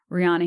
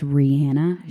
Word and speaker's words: Rihanna: Blue makes sure to correct me every time I say Rihanna. He's like, it's Rihanna. She said so herself. So out of respect for Rihanna, I'm going to say it like that from now on.